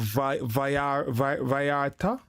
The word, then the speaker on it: Vallarta: Double L in Spanish pronounced like a Y.